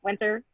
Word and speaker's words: Wynter: Is that right, Wynter?